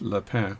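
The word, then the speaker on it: Lépine: It's pretty close to the caliber 6497, which is called the Lapin version. L-E-P-I-N-E would be pronounced Lapin version.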